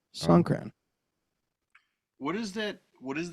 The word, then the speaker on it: Songkran: So Song, just like it's spelled, Song. And then Kran, which is Kran. Songkran.